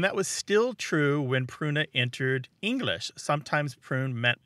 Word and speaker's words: pruna: what a road but and that word was pruna martha how's my pronunciation on latin p-r-u-n-a kruna ultimately ended up